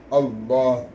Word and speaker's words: அல்லாஹ்: அந்த அல்லாஹ் என்ற வார்த்தை நம்ம வல்லினமாதான் உச்சரிக்கணும் அல்லாஹ் வாய் நிறைய அல்லாஹ் என்ற லாமின் சட்டம் நம்ம பிள்ளைகளுக்கு சொல்லி தரோம் தஜ்வீதுல ஓதும்போது சொல்லி கொடுக்கிறோம் அல்லாஹ் என்று வல்லினமாக சொல்லணும் மிகப்பெரிய ஒரு பவர் அவனுக்கு